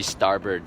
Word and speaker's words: starboard: It's spelled starboard, but it's called the starboard side.